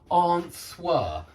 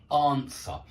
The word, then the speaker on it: answer: student and he said answer and that's not correct answer yeah you don't pronounce the W in answer that is a silent letter answer but it's a very